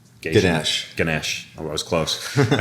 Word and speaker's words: Ganesh: I know it comes back to the protocol that I butchered, Ganesh. I was close. And it's not a doctor, it's a Hindu god, Ganesh.